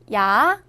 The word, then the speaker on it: 야: 야는 먼저 이를 소리 내다가 바로 이어서 아를 소리 내며 발음합니다. 이와 아를 순서대로 빠르게 말해요.